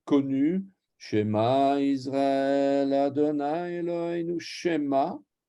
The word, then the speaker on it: Shema: Shema s'écrit avec un 2 points comme ça, et il est court. Shema. C'est pas comme si je mettais les 2 points dans l'autre sens. Shema ou Shema.